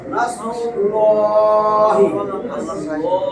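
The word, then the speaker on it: نصر الله: এই যে আল্লাহর নামের ডাইনে পেশ, আল্লাহর নাম মোটা হইবে, লামে আল্লাহর ডাইনে পেশ, লামে আল্লাহ মোটা বলছিলাম না? তাহলে লামে আল্লাহর ডাইনে জবর, লামে আল্লাহ মোটা, পেশ আর জবর হইলে মোটা।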